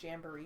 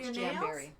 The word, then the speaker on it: Jamberry: jamberries what are jamberries actually I think they're they're pronounced Jamber but I'm not sure no Jamberry they're for your nails okay